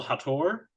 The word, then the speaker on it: Hator: great discoveries here is, I believe you pronounce it Zaris Angel Hator. Is that Zaris Angel Hater, but it took me a while. Okay, Hater. I didn't want to assume that it was Hater.